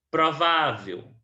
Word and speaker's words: provável: Se a penúltima sílaba é a sílaba tônica, então ela é classificada como paroxítona, certo? Provável paroxítona. Próxima página.